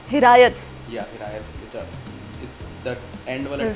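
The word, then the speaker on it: Hiraeth: So the brand name is pronounced as Hirayat. Hirayat. Yeah, Hirayat. That end wala th is th. Th. Hirayat. Yeah. Urdu. No, it's a Welsh word.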